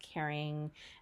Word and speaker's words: Karen: that i used it's karen grossman dr karen grossman it's supposed to be pronounced caring um it smells like